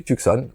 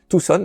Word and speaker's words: Tucson: Phoenix, on va trouver Tucson, ou qui se prononce Tucson, et qui se trouve